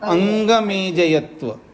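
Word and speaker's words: अङ्गमेजयत्व: हाँ, दुख दौर्मनस्य अंग अंग अंग, यानी इसमें कंठ और नाक से बोला जाता है अंग। हाँ, अंग मेजयत्व।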